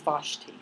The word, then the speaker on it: Vashti: guess that's what Hebrews like thanks anyway he pronounced her name is Vashti so as I had tried to study in